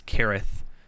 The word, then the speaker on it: Cirith: Cirith, or I guess Kirith, is technically the correct pronunciation, but I always say Cirith anyway. It's weird having a C be a K for me, you know?